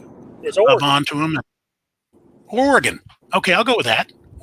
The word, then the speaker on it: Oregon: in oregon i hope i say that i'd butcher the state the name of oregon my wife says argon i said it's not argon argon is a is a mineral it's oregon but he's got some really nice content on